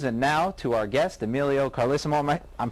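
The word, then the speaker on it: Emilio Carlesimo: that's the news and now to Our Guest Emilio carisimo I'm pronouncing your name correctly you are okay Ron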